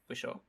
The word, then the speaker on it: Whishaw: Paddington Bear is voiced by Ben Whishaw, or am I pronouncing his last name correctly? I believe so, yes. Whishaw.